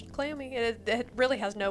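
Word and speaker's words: Cleome: there is a plant and it is called clomi you can look it up it is spelled c l e o m e clomi and it is a cousin to cannabis and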